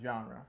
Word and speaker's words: ZHänrę: and myself it's just genre on its own um just pronounced genre yeah so it's like